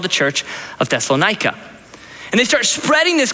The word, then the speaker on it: Thessalonica: the church of thessalonica thessalonica for me yes some pronounce it thessalonika but it's a tongue twister and it was the